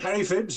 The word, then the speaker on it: Phibbs: Is it Phibbs, Harry, or Pibbs? How do you say that? That's it. Harry Phibbs, yes.